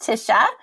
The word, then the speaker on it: Tisha: as well is there tacha is there anything we're missing any terrible pronunciation on my side on on your name or anything else no you it was all great my name is pronounced Tisha uh but I you